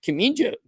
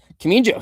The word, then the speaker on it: Kamijo: Kimijo. I always pronounce this wrong. You know it. That Japanese judge. Junichiro Kamijo? Kamijo, yeah, he actually scored the second round for Ashmuz.